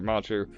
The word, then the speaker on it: Matru: Matru. He said like Machu Picchu.